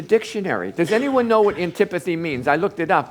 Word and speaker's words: antipathy: but he used a big word it was a n TI p a t h y and that is pronounced antipathy or an can't even say it antipathy and